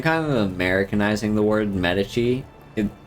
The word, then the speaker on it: Medici: the word Medici it it's just the natural way like it's a way that feels natural for me to say it um I'm pretty sure the official like Italian way to pronounce the name would be Medici um or something along those lines uh but yeah you